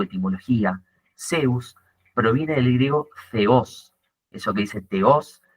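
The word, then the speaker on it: θεός: Zeus proviene del griego Ceos. Eso que dice teos, la t y la h en griego se pronunciaría como una Z.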